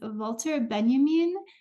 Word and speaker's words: Walter Benjamin: Anderson and she was saying his name as Walter Benjamin and apparently that's how I used to stay with him so that's how the Germans say his name I don't know why